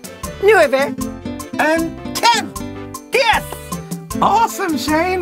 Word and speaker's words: nueve: 9 is nueve.